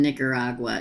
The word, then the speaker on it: Nicaragua: let me say that again cuz I didn't pronounce it corre corly okay uh is the other Sagittarius sister still in Nicaragua she's trying to get to Miami also I